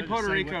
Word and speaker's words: Puerto Rico: Say Puerto Rico real quick. Puerto Rico. How did he just come out? You gotta roll your R's. Jake, say Puerto Rico. Puerto Rico. You gotta roll your R's. I never would have expected